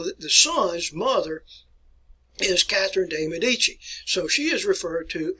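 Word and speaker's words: Catherine de' Medici: and her name and you want to pronounce her name like catherine de medici catherine de medici an italian descent here it's a fine italian name i've given that to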